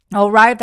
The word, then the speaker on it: arrived: 모음 사에 끼어서 her arrived라고 연결됩니다 arrived 할 때 Alive처럼 살아 있는 것처럼 발음되지 않도록 알 발음은 입술 쭉